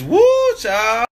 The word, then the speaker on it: whew chile: Like W-H-E-W Chile. Chile? It's woo child.